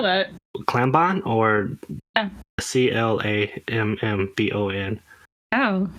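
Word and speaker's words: Clammbon: them out in their spare time but they spell that klambon or c-l-a-m-m-b-o-n oh like an actual clam so kuramubong comes from this old japanese story by miyazawa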